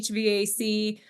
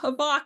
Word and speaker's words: HVAC: Am I mispronouncing it by saying HVAC? No, it is HVAC, but it is. I've got Havok in there probably.